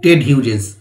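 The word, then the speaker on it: Ted Hughes: রুস্টিং মানে বিশ্রাম নেওয়া বিখ্যাত কবি টেড হিউজেস উচ্চারণটা হবে টেড হিউজ 1930 সালে জন্মেছিলেন 1998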